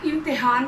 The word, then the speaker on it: इम्तिहान: अगला लफ्ज़ है इम्तिहान, और इम्तिहान क्या है कि हम बात को ख़त्म कर देते हैं, ना पता चलता है कि ते के ऊपर ज़बर है, ना पता चलता है ज़ेर है। इम्तिहान, ते के नीचे भी ज़ेर है।